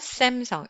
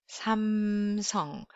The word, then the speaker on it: Samsung: So when you read Samsung, in fact, it's Samsung. It's not Samsung. It's Samsung. Samsung.